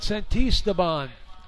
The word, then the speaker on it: Santisteban: Third hitter for the Pioneers, Christian Santisteban. Let me repronounce it. Santisteban. Santisteban. Say it 3 times, and the word is yours.